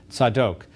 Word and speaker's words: Zadok: called the sons of Zadok or to use the hebrew pronunciation the sons of said oak Zadok was the high